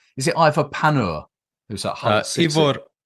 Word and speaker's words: Pandur: It's is it Ivor Panur who's at Hull City? Ivor Pandur. Okay, my pronunciation.